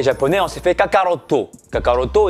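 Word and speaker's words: カカロット: Kakaroto étant Son Goku dans la prononciation japonaise.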